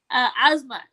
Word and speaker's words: Asmat: His name is funny because it's Asmat. It rhymes with Kazmat.